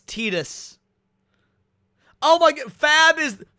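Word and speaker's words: Tidus: I like you pronounced it Titus back then. I learned it was Tetus.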